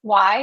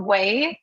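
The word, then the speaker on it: WAI: The people, primary screen readers, you pronounce it Y, but we pronounce it WAY, right?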